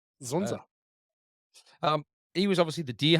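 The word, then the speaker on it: Dzundza: You reckon that's how we Yeah, pronounce Zunza. it? Yeah, Yeah, I heard them Zunza. say it. Yeah. Not Z- Dzunda? with the silent Zunza. Z. Yes. Yeah, Zunza.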